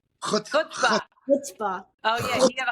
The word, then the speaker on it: chutzpah: So he had smuchba. Is that how you say it? Chutzpah.